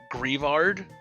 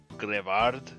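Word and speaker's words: Greavard: Grievard? Grievard. So like graveyards. Grevard.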